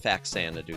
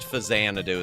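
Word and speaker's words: Faxanadu: Yeah, I called it Fax Sanadoo. Still fight me. It's supposed to be pronounced Fazanadoo is why.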